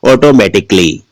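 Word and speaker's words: automatically: इसको हम क्या बोलेंगे, ऑटोमेटिकली। तो यहां पर ए का उच्चारण नहीं हुआ, काली तो नहीं बोलते, लास्ट में क्या बोलते हैं, ऑटोमेटिकली।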